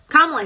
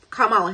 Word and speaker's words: Kamala: this is right when Kamala Harris took o kamla Harris see she got me saying the name wrong disrespectful but this is